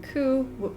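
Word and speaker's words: 九: The number 9 is the word pain, and the word pain also share the same pronunciation, ku, though not as unlucky as 4.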